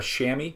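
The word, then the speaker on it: chamois: to get a more subtle effect with a shammy.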